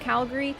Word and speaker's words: Calgary: to know everything about Calgary, that it's actually pronounced Calgary. And I was like, I don't know, but do we have anyone from Calgary here? Like, the Gary is really enunciated, apparently.